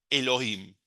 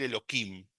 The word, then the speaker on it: Elohim: Elohim. Y acá sí se pronuncia como se lee, no hay esta pronunciación alternativa. Por ahí nuevamente los muy religiosos en vez de Elohim van a decir Eloquim, pero la realidad que ese es el nombre.